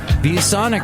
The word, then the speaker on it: ViewSonic: ViewSonic rhymes with bubonic.